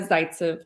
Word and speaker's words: Zaytsev: clever enough no but what how do you pronounce your name um zaitsev okay that's what i thought it was